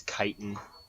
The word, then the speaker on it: chitin: It's like CHI, like I think it's chitin. It's a weird chitin. word. Yeah, that's how you pronounce it.